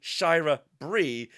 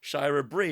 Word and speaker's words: Shira Brie: Yeah, but Scott tells us that it is officially Shira Brie, since he had asked the writer David Michelini, oh wow, how you pronounce this, and he confirmed it, Shira Brie.